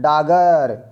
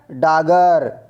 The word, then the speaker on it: डाकघर: Next प्रश्न, डाकघर का स्वर लोप के कारण हिंदी में उच्चारण होता है। डाक घर शब्द का लोप के कारण हिंदी में उच्चारण होता है, बताइएगा। तो इसका राइट आंसर है डागर, क्या होता है, डागर।